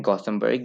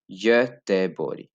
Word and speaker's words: Göteborg: बहुत से लोग इंग्लिश में भी बोल देते हैं गॉथेनबर्ग या göteborg, लेकिन इसको जी एंड है, इज the soft vowel like I said, तो इसको पढ़ा जाएगा göteborg, göteborg, एंड देन यहाँ पे ये आ गया।